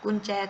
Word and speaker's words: กุญแจ: คือ คำ ว่า กุญแจ กุญแจ ตัว นี้ ไป แล้ว ออก เสียง ก็ เหมือน หนู เป็น ตัว สะกด เช่น กัน ถึง แม้ ว่า เวลา เขียน จะ เขียน ก็ มี ตัว ใหญ่ ผู้ หญิง เป็น ตัว สะกด ก็ ตาม นะ คะ ต่อ ไป